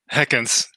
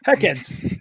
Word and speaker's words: Hekkens: Have I said that right, Neil? Hekkens. Hekkens. Yeah, that was not too bad.